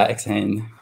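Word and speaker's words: xHain: X-Hein that you've talked, is that how you say it? X-Hein or? Yeah, X-Hein.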